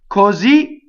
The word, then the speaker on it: così: Così cantava. So words that end in a stressed syllable and the ultimate syllable is stressed cause a doubling.